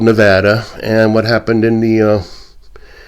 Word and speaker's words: Nevada: But the interesting thing that happened in Nevada, and it's not Nevada, I know it should be pronounced Nevada by the Spanish pronunciation, but we are called Nevada.